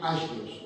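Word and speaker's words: ἅγιος: Creo que se dice más bien agios, ¿no? Como si la G se pronuncia como en el griego, algo así.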